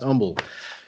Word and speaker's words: Humble: It's spelled humble, but it's pronounced humble.